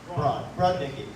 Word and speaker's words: Brodnicki: Is it pronounced Brodnicki or Brodnicki? Brod? Brodnicki.